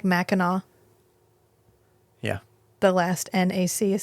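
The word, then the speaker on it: Mackinac: second t sure sure it's fine it's like Mackinaw yeah the last NAC is silent uh anyway oh it's probably an indigenous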